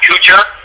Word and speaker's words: Kuchar: Like Matt Kuchar. Okay. It's Kuchar.